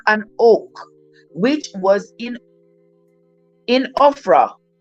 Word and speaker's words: Ophrah: oak, which was in Ophrah. Oh, this almost spelled like Oprah, but it has an H, an extra H, so it's Ophra.